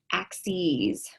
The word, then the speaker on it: axes: set of axes um it's spelled the same but it's pronounced differently it's pronounced with a long e um of axes the